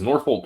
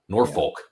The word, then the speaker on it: Norfolk: you sure do because Northfolk sck is Head and Shoulders the best team in that conference the the but you never say it correctly Norfolk no state come on